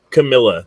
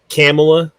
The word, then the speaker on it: Kamala: They want Camilla. They want Camilla in there because I think they've used up all, whatever her... Kamala? Come on. How do you say it? Kamala.